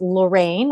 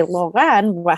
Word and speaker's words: Lorran: family uh once again my name is spelled l-o-r-r-a-n but it's pronounced lorraine or if you are french you could say loren how it's spelled and the last name